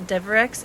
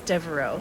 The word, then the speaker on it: Devereaux: But the first name is not Bewu, it's Beau, like hair bow, and then the last name was not Deverex, it's Devereaux. So Beau Devereaux.